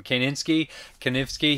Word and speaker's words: Kanefsky: Kanefsky.